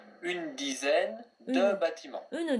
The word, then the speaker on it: une: J'ai acheté une douzaine de. J'ai acheté une douzaine de. Très bien. Attention à une. Vous avez dit une, mais on prononce en une seule syllabe.